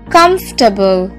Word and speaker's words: comfortable: vegetables for lunch next comfortable c-o-m-f-o-r-t-a-b-l-e comfortable now this word just like vegetable has an extra vowel that we don't need to pronounce comfortable comfortable not comfortable